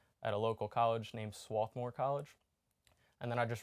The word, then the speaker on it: Swarthmore: you mentioned that swarthmore is that how it's pronounced swarthmore that's right yeah um you you loved your